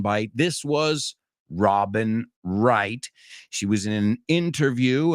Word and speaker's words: Wright: but not least Robin Wright and remember that W is silent and we looked at